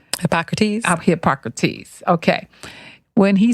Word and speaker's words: Hippocrates: me say his name correctly come and say hypocrisies hippocrates i'm hippocrates okay when he said all disease